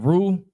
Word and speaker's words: Reu: Reu. Okay, Reu, I was right. Genesis 11 and 19. And Peleg lived after he begat Reu 209 years, and begot sons and daughters. Genesis 11 and 20. And Reu lived 230 years, and begot Serug.